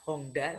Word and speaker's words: Honda: Maka ingat baik-baik, Honda, H-O-N-D ya, Honda membacanya, kalau orang Jepang kan N dibaca eng, Honda, tulisannya Honda, bacanya Honda. Itu dulu ya belajar ke Amerika.